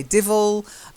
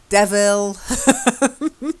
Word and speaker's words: devil: But you do hear people say divil and devil. The correct phonetic pronunciation is devil.